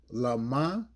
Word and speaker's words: LaMah: AhlYa, LaMah, IZaBathNaYa. Okay? And I can spell it for you.